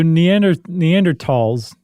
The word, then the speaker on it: Neanderthal: So Neanderthals, the correct pronunciation is tall, by the way.